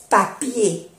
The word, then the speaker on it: papier: Y ya sabemos que en francés la E y la R cuando termina suena E, papier, du papier de toilette, papel de baño. O, se puede decir, ou du papier hygiénique, papel higiénico.